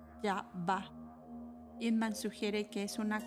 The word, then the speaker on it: Yahvah: Yod-He-Bod-He es el término del Antiguo Testamento y se pronunciaba Yahvah.